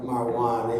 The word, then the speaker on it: Marwan: Is it Marquand? Yeah, we just call him Marwan.